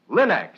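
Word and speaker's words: Linx: It's spelled L-I-N-X. Linex.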